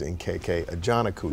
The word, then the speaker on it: Nkechi Ajanaku: This is Nkechi Ajanaku. Did I pronounce it Absolutely correctly?